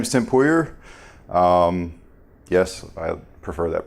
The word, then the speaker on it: Pouyer: it's she says pouye she likes the the french pronunciation a little bit better the problem is though